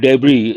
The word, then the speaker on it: debris: When you use the word debris, the last letter S is silent.